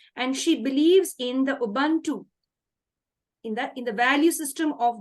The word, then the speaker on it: Ubuntu: Ma'am, have I pronounced the word correctly, ma'am? Ubuntu, is it correct? Yes, it's Ubuntu.